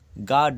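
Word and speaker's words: guard: কোথায় কোথায় সাইলেন্ট থাকে গার্ড জি ইউ এ আর ডি দেখো ইউ এর উচ্চারণ এখানে নেই গার্ড জি এর পরে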